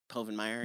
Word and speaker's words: Povenmire: Is it Povenmire? Oh, is that how you pronounce it? Povenmire.